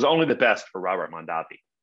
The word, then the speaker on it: Mondavi: kind of unexpected things first he changed the pronunciation of his name to from mondavi to mondavi so originally a family was called mondavi but he changed it to mondavi this was to differentiate himself from his brother